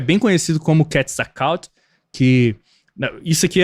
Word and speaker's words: Quetzalcóatl: Tipo, eu falo a pronúncia Quetzalcóatl porque eu acho mais legal. Mas a pronúncia correta, tá, gente? Pra vocês não pensar que eu tô falando qualquer coisa, é Quetzalcóatl. Tá? É a pronúncia correta do nome dele.